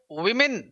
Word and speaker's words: women: तो जब भी आप लिखते हैं WOMEN तो उच्चारण होता है विमेन, और WOMAN लिखते हैं तो उच्चारण होता है वुमन, मन, आधा है। तो यहां ओ के लिए ध्वनि क्या आती है? छोटा ई।